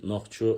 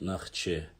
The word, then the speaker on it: Нохчо: Нахче это более старые транскрипции, Нохчо это более современное. Сегодня уже на литературный лад правильно говорить через О. Но горные диалекты, и вот если вы хотите более архаично говорить, то есть на старом, так сказать, диалекте горном надо говорить Нахче через А.